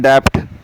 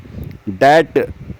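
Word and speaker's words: debt: डी ई बी टी लोग कहते हैं डेप्ट डेप्ट नहीं बी साइलेंट है इसमें जो कर्स के लिए आता है ऋण के लिए आता है कर्स उसे बोलते हैं दैट डेट इसमें लिप्स मिलेंगे नहीं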